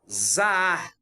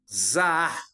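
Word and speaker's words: זָהַר: Zaar. Pronúncia hebraica. Zaar. Puxando o ar no final.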